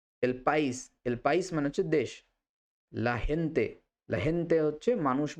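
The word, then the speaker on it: la gente: সিউদাদি শিখব লািউদাদ এলপাইস এলপাইস মানে হচ্ছে দেশ লাহেন্তে লাহেন্তে হচ্ছে মানুষ বা লোক এবার এটা হচ্ছে অনেকে স্পেনে যদি বলে তখন লাখেন্তে বলে খেন্তে তো এই উচ্চারণগুলো আপনাদের যদি জানা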